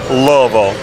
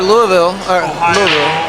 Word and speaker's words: Louisville: Say it right. It's Louisville. Louisville. If you say Louisville, they get really mad. It's Louisville. Yeah, Louisville. You gotta roll it.